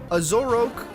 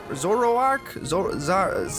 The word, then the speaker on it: Zoroark: that literally carried me the whole way through azorok Zoroark oh that's just a normal Pokemon how could I mispronounce that a Toxicroak and a manectric and